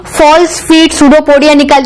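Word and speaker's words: pseudopodia: सूडोपोडिया में पी से start होता है पर पी साइलेंट होता है।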